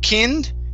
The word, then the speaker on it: kind: Instead of kind, it's kind. Kind. Mm-hmm. Give me a D sound at the end.